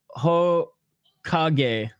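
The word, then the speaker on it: Hokage: of the city of the hawk Edge is pronounced ho kage okay okay and we are live or as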